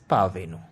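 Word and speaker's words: parvenu: आर इसमें silent रखना है, तो वर्ड इज पावेनु.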